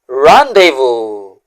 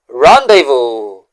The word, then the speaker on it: rendezvous: Now, let's pronounce the word this way. Rendevo. Rendevo.